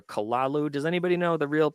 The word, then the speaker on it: Cthulhu: And it's not even, I guess you're supposed to say Kolulu or Kalalu.